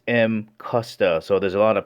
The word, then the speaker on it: Mcusta: Alright, before beginning, the actual correct pronunciation is Mcusta. So there's a lot of people out there pronouncing it Mcusta, which is fine too.